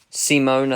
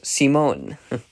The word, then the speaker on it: Simon: Could have had some information about Simone, I think they pronounce him in the anime. They don't say Simon. Sort of like Alvin and the Chipmunks. Simone.